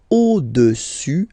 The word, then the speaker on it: au-dessus: Le cube est au-dessus du cylindre. So let's repeat it. Le cube est au-dessus, final S not pronounced here, au-dessus du cylindre.